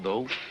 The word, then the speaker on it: though: by telling you the th Oh ugh is pronounced though it's not fair it